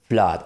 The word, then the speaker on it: flood: right so we don't say blood and or fluid right so because normally when we have when we have two o's together we usually pronounce ooh it can be a short or long o but it's usually uh but these are like exceptions right so blood and